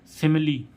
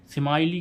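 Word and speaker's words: simile: आई एल ई इस सिमली क्या होता है सिम सिमली समाली क्यों नहीं हो रहा तोय कुछ गिने चुने बण है इसलिए इनका उच्चारण लास्ट में ई आने पर ई होता है सिमली तो गा आशा करते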